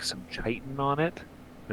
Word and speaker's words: chitin: Never knew for the longest time that it was chitin. Never knew how to say that. I used to Then I pronounce heard it in the shit.